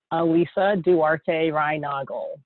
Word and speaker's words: Alyssa Duarte Reinagel: It's pronounced, and Sean got it right, Alyssa Duarte Reinagel.